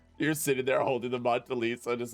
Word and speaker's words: Mona Lisa: You're sitting there holding the Mona Lisa, just like, is it called the Mona?